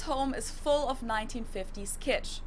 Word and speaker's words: kitsch: So you could say, his home is full of 1950s kitsch. It means the same thing in German and in English, and it's also pronounced the same.